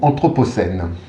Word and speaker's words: anthropocène: que je vous propose aujourd'hui est le mot anthropocène anthropocène bon d'accord j'ai pas choisi un mot